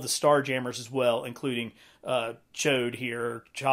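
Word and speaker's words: Ch'od: So I'm probably not going to pronounce it right, but it's like Chod. It's like C-H, like apostrophe O-D.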